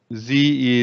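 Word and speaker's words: Sze: Is the book by Z. Z is spelled S-Z-E, okay?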